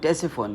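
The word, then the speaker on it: Ctesiphon: मदान जो जगह है आज यह टेस फोन कहलाता है टेस फोन के स्पेलिंग है सी टी ई एस आई पी एच ओ एन टेस फोन यह मैं आपको इसलिए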